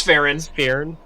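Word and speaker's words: Sphyrn: the spelling on that one uh s-p-h-y-r-n it's fahrens yeah um yeah uh he's like yeah boring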